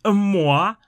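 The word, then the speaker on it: Moa: узнать следующий у нас Моа ударение на О Здесь попал здесь попал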